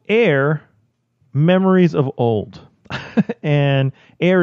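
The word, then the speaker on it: Aer: It's called Air: Memories of Old. And air is spelled A-E-R. You mean ire?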